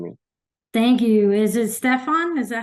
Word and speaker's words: Stephan: thank you is it Stefan is that how you say it it's Stefan stepan just like I always tell people it's like Stephanie without the IE on the end spelled or pronounced the